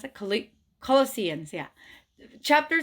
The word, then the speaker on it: Colossians: Is that how you pronounce it? Colli- Colossians, yeah.